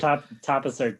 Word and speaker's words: tapas: Tapas are too classy for this film. It's pronounced tapas, but yes.